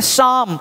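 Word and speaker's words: psalm: ये पी नहीं बोलना है, आप देना है यहाँ देखिए शाम, या पी सलाम नहीं बोलना है।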